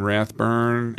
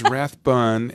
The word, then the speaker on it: Rathbun: your best friend that knows you bike in Rathburn when I call I know how to pronounce it so I'm good so the big maybe she really does know him yes it is it is Rathbun and by the way I'm very happy to